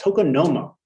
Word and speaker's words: tokonoma: exhibition so um and please correct me if i'm pronouncing this wrong but it's called tokonomo yes which is uh is a japanese word and a japanese concept uh why don't you